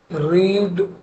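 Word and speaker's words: read: ठीक है, रीड spelling same रहेगी, पढ़ेंगे रेड रेड।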